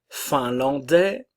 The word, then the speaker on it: finlandais: en en la Finlande finlandais attention le S ne se prononce pas le son e finlandaise